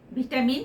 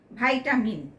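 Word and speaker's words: vitamin: ভিটামিন শব্দটার দুটো উচ্চারণেই ইংরেজি ভাষায় স্বীকৃত। যথা ভিটামিন বা ভাইটামিন ল্যাতিন শব্দ ভিটা মানে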